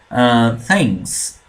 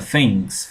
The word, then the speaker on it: things: Things, things, a pronúncia é assim, tá? A língua no meio do jeito. Se você não conseguir, pode falar f, tá? Não tem problema. Things, things.